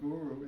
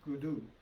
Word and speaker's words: Guru: And when you chant it in Gurmukhi, the R is pronounced with a D. So instead of Guru, it's Gudu.